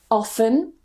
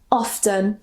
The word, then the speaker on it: often: This one, you can say often or often.